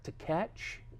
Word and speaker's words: Tkach: Tkach, T-K-A-C-H.